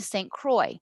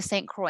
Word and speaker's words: Saint Croix: the family moved to saint croix i've been to the island right next to saint croix and see how it's spelled with an x on the end but it's pronounced kroy like troy very beautiful here it's